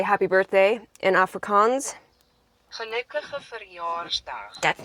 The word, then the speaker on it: gelukkige verjaarsdag: It's the G's. Gelukkig. How does that mean happy birthday? Sounds like you're clearing your throat. No offense. Gelukkige verjaarsdag. Gelukkig verjaarsdag. Hold on, my turn. Gelukkige verjaarsdag.